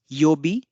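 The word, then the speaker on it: 曜日: element together with yo and B, that is yobi, together with the name of the element gives the name of the day of the week. So this means Nichi Yobi will mean Sunday.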